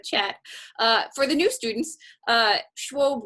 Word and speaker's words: Schwob: For the new students, Schwob rhymes with globe as opposed to Schwab, the investor, just so you know.